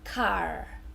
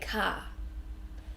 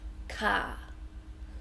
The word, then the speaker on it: car: of Australian pronunciation so the first one is that our sound or at the end of words for example car so correct pronunciation in America would be car and you you really say that earth sounds but in Australia we don't really say that our we just say car car so not car but